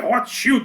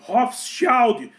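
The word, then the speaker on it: Rothschild: Tem muita gente falando, não é Hot Shield, não. Eu uso, esse é o termo que eu tô usando, é o alemão para se aproximar da pronúncia original do nome, Hofild, que significa eh símbolo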